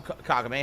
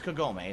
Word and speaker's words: Kagome: Hello, Kagame. How are you today? Or is it it's Kagome, isn't it? I always say it wrong.